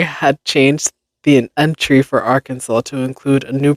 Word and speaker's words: Arkansas: with the addition of two simple letters, is pronounced Arkansas.